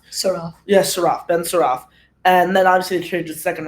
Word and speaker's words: Saraf: I'm okay with Ben Shraf. Saraf. Yeah, Saraf. Ben Saraf.